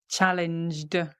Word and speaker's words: challenged: Challenged, challenged, because the j, I'm engaging my vocal cords, right? So challenged, we pronounce the d on the end.